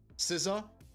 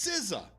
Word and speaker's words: SZA: and it spelled Sza Siza. So I'm being I asked her if like oh is is she a new member of the Wuang? Huh? What? It's spelled like Rizza but it's Siza.